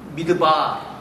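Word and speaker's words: מדבר: Then, desert, desert, desert, desert in Hebrew, midbar, just pronounce, midbar, dabar, midbar.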